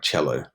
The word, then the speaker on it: cello: If you notice the words from Italian, the C sound is more like a ch, right? Like cello, concerto.